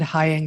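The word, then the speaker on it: Heying: Yeah, it's actually Weinstein, and Hying rhymes with flying.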